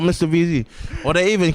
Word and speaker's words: MRVZ: My name's not Mr. VZ.